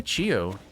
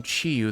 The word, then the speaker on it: Chiyo: All right, let's go say hi to Chiyo. Actually, I've been pronouncing his name Chiyu this whole time, but wait a minute.